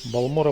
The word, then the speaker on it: Балмора: повысим сначала отношение его балмора прекрасно вот кстати вот эта фраза которую слышишь нечасто от NPC именно с ударением на первый сло на на второй сло США говорят бара это пря режет мне слух и не соответствует в